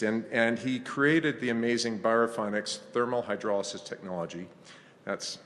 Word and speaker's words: Biorefinex: and food waste, and he created the amazing Biorefinex thermal hydrolysis technology. That's how we pronounce it.